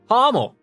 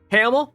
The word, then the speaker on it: Hamel: to a place called Hamill ah Hamill it's pronounced like ha not ham Hummel like ha ha Hamel ha Hummel I need